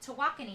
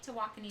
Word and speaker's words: Tawakoni: Tawakoni. Tawakoni. So we were pronouncing Lake Tawakoni Totally the wrong wrong.